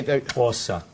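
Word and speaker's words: Xhosa: know it's say that againa paa which you spell it x h o s a say pora Pora give it a try I you all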